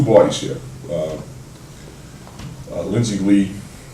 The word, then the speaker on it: Lu: here um uh lindsy lee her name is spelled Lu but they tell me it's pronounced Lee so people have criticized